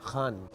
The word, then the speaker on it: Khan: وجہ سے جیت گئے۔ No, my name is not Khan, it's Khan. ہاں وہی تو بولا، کان۔ No, not Khan, from the epiglottis.